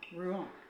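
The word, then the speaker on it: Rouen: For reference, in France, in French it is said as ru. Now, this quiet village is about 35 minutes from Ruan.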